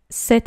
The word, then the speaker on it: cet: voyelle on utilise cette ça se prononce comme le féminin mais il y a seulement 1 t et pas deux après d'autres exemples il